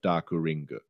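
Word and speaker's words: ダークリング: Like it's written phonetically, it's like a like Dakuringu, like that.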